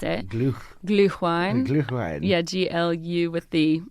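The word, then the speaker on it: Glühwein: Gluine is what how they pronounce it. Glu. Gluine.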